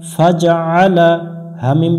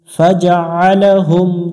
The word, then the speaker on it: فجعلهم: জবর লা, ফাজা আলা, ফাজা আলা, হামিম পেশ হুম, ফাজা আলা হুম, আলা হুম, এখানে আইন গলা চেপে উচ্চারণ করতে হবে, আলা হুম, ফাজা আলা হুম বললে ভুল হয়ে যাবে।